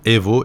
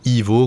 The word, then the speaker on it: Evo: Et d'ailleurs, un des choix du nom de Evo, à prononcer à l'italienne, Evo et non pas Ivo comme à l'anglaise, Marco Massaruto souhaite maintenir cette prononciation à l'italienne, donc on va dire Assetto Corsa EVO.